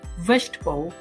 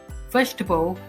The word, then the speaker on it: vegetable: seems to be that they are four syllables but when they are pronouncing it's only vegetable vegetable only three syllables next is metathesis for